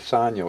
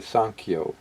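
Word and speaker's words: Sanyo: mispronounce I did uh it's not a Sano it's a sanio s an K yo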